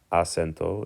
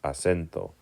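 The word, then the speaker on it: acento: CH asento it's not asento it's not asento it's asento naar becomes Naas okay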